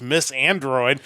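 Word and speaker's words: MYTH & ROID: and myth and Roid which is pronounced Miss Android have announced a collaboration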